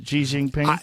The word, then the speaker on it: Xi Jinping: Gi Jinping.